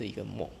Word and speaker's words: MUOC: MUOC is pronounced as "tapir".